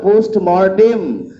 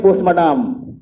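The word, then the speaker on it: postmortem: হবে জানো, সবাই জানো পোস্টমর্টেম। ম্যাক্সিমাম শিক্ষিত লোক পোস্টমর্টেম বলতে পারে না, কি বলে পোস্টমর্টম, তাই তো, পোস্টমর্টম হবে, পোস্টম্যাডাম অমুক তমুক বলে যাবে, কিন্তু সঠিক উচ্চারণটা হবে পোস্টমর্টেম, পোস্টমর্টেম।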